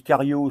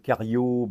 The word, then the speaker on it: Chario: Alors, je dis cariot, ça s'écrit chariot mais je crois que ch en italien ça se prononce que les italophones me contrediront ou pas.